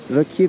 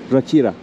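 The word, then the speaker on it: Ráquira: Rakira. Şurada yazıyor bak. Doğrusunu şimdi telaffuz ettim sanırım.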